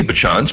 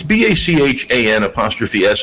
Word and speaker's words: Bachan's: Because, right, if there wasn't a BA, it would just be like Chan's. So let's call it Bachan's.